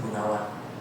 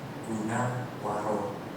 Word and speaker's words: Gunawaro: Nama saya Gunawaro, bukan Gunawan. Ya gak apa-apa. Banyak orang salah spelling nama saya. Banyak orang mengucap nama saya itu Gunawan. Nama saya itu Buddhis banget, Gunawaro.